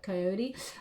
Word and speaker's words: coyote: feel like i've got coyote or coyote depending on how you pronounce it i say coyote um um revealer of